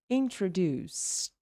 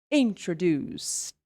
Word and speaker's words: introduced: explode a bit, because in this case here is going to have a sound of a T. It's going to be introduced. Introduced. Not introduced. Introduced. Okay? Because introduce, 3 syllables, introduced, 3 syllables, and has the T sound.